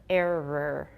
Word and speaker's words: error: should watch out because a lot of you pronounced the oh and you should just pronounce to pronounce a schwa so let's review again mirror mirror error alright when people are